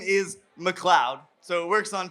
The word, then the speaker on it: McLeod: Because a lot of people Kudos. mispronounce my name. They go McLeod. So I was like, if I put Cloud on the record, hopefully it'll make people Cloudberries. subconsciously Cloudberries. McLeod, you know?